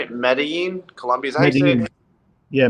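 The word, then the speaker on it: Medellín: year and i think medellin i think that's how you say it medellin colombia's yeah medellin the double l is silent it's like a a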